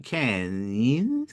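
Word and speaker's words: Cairns: by Colin and Cameron k k k for some reason right say there's a place in Australia called KH spelled c a r i ns and they'll pronounce it K and whenever I see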